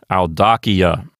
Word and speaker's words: audacia: So the accent will go back one notch to the left and end up on the DA syllable, known as the anti-penult. And the word will sound like audacia.